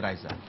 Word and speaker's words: Risa: ada di Star Trek Risa dan bacanya Raisa Kalau Pak eh saya